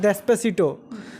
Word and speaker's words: Despacito: एक गाना भी स्पेनिश में बहुत ही ज़्यादा वायरल था, उसका प्रोनाउंसिएशन क्या है? डेस्पेसिटो, तो वो मैं चाहूँगा कि आप ज़रूर गा के सुनाएं।